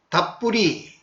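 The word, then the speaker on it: たっぷり: 이 담뿍은 일본어에서는 여기 보이는 대로 답뿌리 이렇게 발음합니다.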